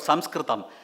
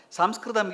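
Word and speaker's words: संस्कृतम्: Sanskritam, yes, without knowing, I don't, even I had heard even Sanskritam professors, telling it is Sanskrit. Sanskrit is incorrect because the British could not pronounce Sanskritam. They call it Sanskrit.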